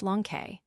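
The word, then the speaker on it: λόγχη: This name Longinus is related to that of the spear itself, in Greek logke, pronounced lonke.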